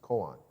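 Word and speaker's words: 公案: may be familiar with the japanese pronunciation which is koan and the the hadoo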